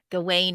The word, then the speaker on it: Gawain: Gawain is his what you pronounce it can pronounce it Gawain as well.